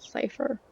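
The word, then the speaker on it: Seifer: I knew it would either be you or Safer. Some people pronounce it Cypher.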